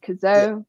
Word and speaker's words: Cazaux: I said his name wrong last week. Cazaux. Arthur Cazaux, yeah.